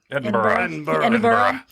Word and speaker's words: Edinburgh: Says that, and how do you pronounce that? Edinburgh? Edinburgh.